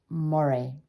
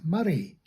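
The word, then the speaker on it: Moray: in the very beautiful county of mori it's murray oh yes thanks for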